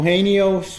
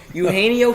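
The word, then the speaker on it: Eugenio: trying to say his name a can oh hey Neos yeah not even close you haenyeo Suarez okay to 60 um by an average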